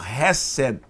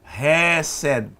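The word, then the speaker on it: חסד: Em hebraico, hesed. Hesed. Hesed. Se escreve Het, Samer e Dalet.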